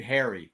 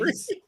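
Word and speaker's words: Ares: I'll accept a lot of your razzmatazz, Roger, but one of the Greek gods wasn't named Harry. Okay. I don't know where you're getting Aries.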